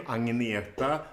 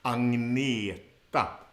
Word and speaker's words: Agneta: So with the first name, Agneta, the GN actually becomes NGN. Ngn, ngn. Agneta. And the stress is on the second part of the word, right? Agneta. Agneta. On the second syllable.